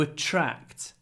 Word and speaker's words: attract: W after two to attract to to to to to attract we want to attract new clients and we have TR when we pronounce TR it becomes like a CH to attract to a to attract